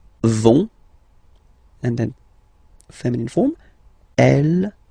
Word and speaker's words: vont: it, so ils vont, final T, not pronounced, ils vont, and then feminine form, elles vont.